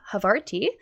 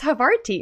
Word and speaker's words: Havarti: I was worried I pronounced your dog's name wrong, but it's Havarti or Havarti, right? I like the little extra accent on the end. Yeah, it's Havarti. I know. Just I like really the cheese. pronunciated every syllable. Havarti.